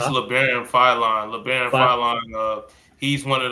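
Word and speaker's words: Labaron Philon: How do you pronounce this? Yeah, it's LeBaron Philon.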